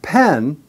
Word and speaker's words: pen: If you compare that with pen, that has a short E sound. Eh, eh, pe, like pet. But we say pen, pen.